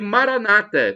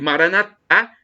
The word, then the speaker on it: Maranata: mostraram boas coisas a Maranata Como diz aí nos protestante ou evangélico com a tônica na penúltima sílaba e Maranata com a tônica na última sílaba como dizemos nós católicos não importa porque somos